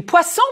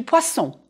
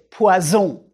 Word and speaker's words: poisson: Du poisson. Prononcez poisson, just like une boisson. The two S's make the S sound. And with poisson, it's more important than ever. You really don't want to say poison.